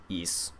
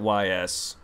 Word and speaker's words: Ys: oh well I know I heard the exact pronunciation it it's it's E I always pronounced it Ys weird I know what it's pronounced I just don't call it that I've heard people actually pronounce it yees Origins no no I